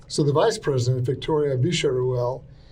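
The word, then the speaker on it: Villarruel: Spanish is that in in their version of Spanish when you have a double L or a Y they pronounce it as a sha yeah sound. So instead of varel they say visharuel.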